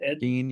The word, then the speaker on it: Gein: Is it Ed Gein? Gene, yeah, yeah.